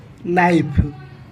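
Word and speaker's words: knife: नाइफ नाइफ अर्थ है छुरी बा चाकू। हिंदी रे भी छुरी और चाकू। यही वर्ड रे के साइलेंट अच्छी माने के रा उच्चारण करा जाएनी।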